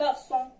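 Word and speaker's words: garçon: هي هادي سي كتسمى سيديلا. سيديلا بحال في غارسون، كتسمى سيديلا اس سي تاهي غارسون بحال اس.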